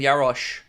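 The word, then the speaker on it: Jaroš: It's pronounced like SH, so it's like saying Yarosh.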